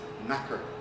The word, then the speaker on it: knacker: People refer to them as tinkers or gypsies, or another word that they use is knacker, which is spelt with a K, but it's basically our N word.